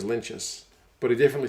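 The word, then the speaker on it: Lienert: or two ago and everyone calls and he's like there's no cheese in my name i'm pretty sure it's lentis but he definitely said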